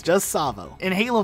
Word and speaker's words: Tsavo: one's great it's pronounced Tsavo highway but I've heard many many people call it to Tsavo highway with an overemphasis on the T sound it is not the case it's just Tsavo in Halo 5 despite